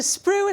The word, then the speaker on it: SPR: I have no idea why the acronym is pronounced sprew but it is the sprew is a treaty obligation.